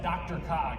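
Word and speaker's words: DRCOG: council of governments and they typically pronounce that dr cog looking at the acronym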